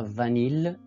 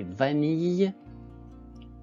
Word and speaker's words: vanille: Griller, habiller, bille, vrille, vanille, et non pas vanille. Vanille, c'est vanille, famille, fille.